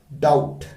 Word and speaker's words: doubt: डाउट, यस, B mute है, तो बी इसमें म्यूट लेटर है यानी साइलेंट लेटर है।